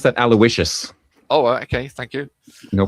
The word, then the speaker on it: Aloysius: I think you pronounce that Aloysius.